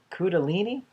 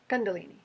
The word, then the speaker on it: Kundalini: Rob have a spontaneous coup daleney activation Kundalini Kundalini ah I missed it I missed a consonant Shh and is there